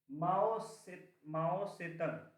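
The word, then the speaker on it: Mao Tse-tung: माओ सेतंग, MAO dash TSE dash TUNG, फिर dash होगा TSE के बाद। हाँ, इसको माओ जेडोंग लिख देते हैं बहुत जगह लोग, बोलने का तरीका है चाइनीज में, ऐसे स्पेलिंग इसका ये लिखते हैं, माओ जेडोंग, माओ सेतंग ऐसे लिखते हैं, टी साइलेंट होता है, माओ TSE TUNG, ठीक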